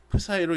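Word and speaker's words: Ψ: 이 dv를 통해서 총 발생하는 전속이라는 것이, 전속 d는, 전속이라는 것은 이렇게 파이로 이렇게 표현하는데 파이가 아니라 이걸 뭐라고 읽는다고 했지? 프사이로 읽는다라고 했어요.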